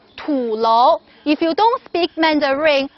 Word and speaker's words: tulou: this this is called tulo if you don't speak Mandarin remember to spell it as t-u-l-o-u too low the name is tulo and you can translate